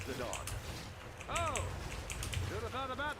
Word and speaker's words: Zidane: Baba, it's pronounced Zidane.